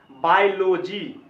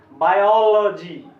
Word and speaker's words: Biology: बायोलॉजी पढ़ते आए हैं, ये गलत उच्चारण है, इसको पढ़ना चाहिए। अब यहाँ पे जो अ है, आ से थोड़ा ऊपर अ, ये साउंड है, और इसके नीचे में डैश है, इसीलिए इसको पढ़ना चाहिए बायोलॉजी।